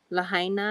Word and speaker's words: Lahaina: How do you pronounce that? Lahaina? Lahaina, I think, is how you pronounce it, in Maui.